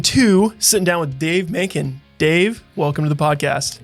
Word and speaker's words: Makin: here in season two sitting down with Dave manin Dave welcome to the podcast thank you for